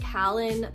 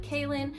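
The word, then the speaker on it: Kahlen: I always said like Kalin, but I think it's maybe supposed to be like Kaylin or I don't really know. It's spelled K-A-H-L-E-N.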